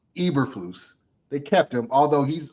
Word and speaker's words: Eberflus: How do you pronounce his name? Eberflus. Eberflus.